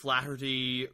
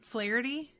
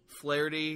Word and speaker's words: Flaherty: there and they show up they mow down flattery or was how do you pronounce it again flaherty flaherty yeah i think that's nice and lamla